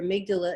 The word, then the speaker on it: amygdala: So is that with this, I don't even remember how to pronounce that. Is it the amygdala?